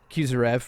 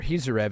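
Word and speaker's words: Khizriev: Well, moving on to the 3 fights that did happen, Timur Kusarev, or Hizarev is how they pronounced it, and Daniel Weisel.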